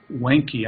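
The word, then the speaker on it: Wiencke: I think that's not how she pronounces her name, R-O-B-L-Y-E-R, and William Wenke, I think is how you pronounce it, W-I-E-N-C-K-E.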